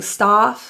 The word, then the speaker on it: stuff: corner of your mouth the U in stuff is pronounced as that carrot uh uh uh closed jaw sound it's near closed jaw so if you're opening your your mouth and saying stuff stuff keep your mouth closed stuff stuff it's a very